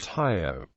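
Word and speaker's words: 효: In Korean Confucianism, the character is pronounced Hyo.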